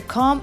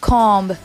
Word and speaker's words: comb: The next word where B letter is silent, it's comb. Comb, like for comb or hair. So it's not comb, it's comb.